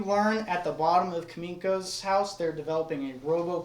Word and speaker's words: Kaminko: You go to uh Kam uh Kam Kaminko's house.